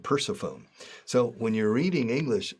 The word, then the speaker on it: Persephone: And Persephone. Another goddess or demi-goddess in Greek mythology, Persephone. I said Persephone.